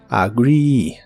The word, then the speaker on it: agree: de inglés es agree la doble e de esta palabra se pronuncia como si fuese una doble I agree agree este verbo ya